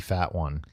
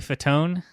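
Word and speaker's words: Fatone: Uh, hosted by Joey Fatwan. Uh, Joey Fetone. Oh, that's how you say it.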